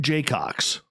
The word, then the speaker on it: Jacocks: I think of Craig Jaycox. Okay. Now, this is a gentleman. The guy is eloquent as anything. Jaycox is spelled Jacocks.